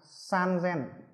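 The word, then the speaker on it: さんぜん: 8000, chúng ta cần phải chú ý đó là 3000 nó đọc là san zen.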